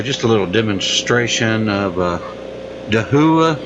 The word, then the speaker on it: Dahua: a little demonstration of Dahua I think it's how it's pronounced da h ua it's a security webcam